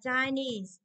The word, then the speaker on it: Chinese: Hay là Chinese. Đúng không? Chinese là Trung Quốc thì trọng âm cũng rơi vào ni, chứ toàn rơi vào đôi này.